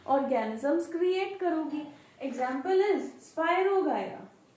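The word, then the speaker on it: Spirogyra: Example is स्पायरोगायरा। स्पायरोगायरा सम कई नूं स्पायरोजायरा भी प्रोनाउंस करते हैं, कोई गलत नहीं हैगा उहदे च।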